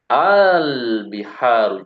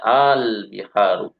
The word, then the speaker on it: البحار: Al-biharu jam'ul bahri. Jadi yang ini tadi Mbak ya, Mbak Zahra yang baca di Al-Bihar ini cara bacanya Al-Biharu. Jadi asalnya Al-Biharu ya.